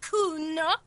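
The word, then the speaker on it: Cuno: Have you come to make your offering to Kuno? Oh, not this dreamer shit again. Why do Kuno's bitches always try and bring Kuno that... It was only once. And you fucking asked me to nick it, Kuno.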